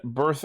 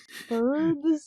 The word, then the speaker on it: Birth: Resurrection / Prologue and Birth X Birth Prologue, both of which are debuting March 13th. Is that one like the 2 births? Birds? Ichi, I think it's supposed to be pronounced birth.